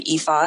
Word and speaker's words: Ifa: The other one is the Ifa system, and that's spelled IFA, which is based in the Yoruba tradition out of what is now known Nigeria.